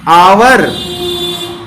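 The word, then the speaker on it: hour: इसका प्रोनाउंसिएशन करेंगे तो क्या होगा, आवर।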